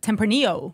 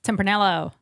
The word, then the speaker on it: tempranillo: have last week the tempranillo yeah yeah if you want to pronounce the l's go nuts tempranello cheese let's see back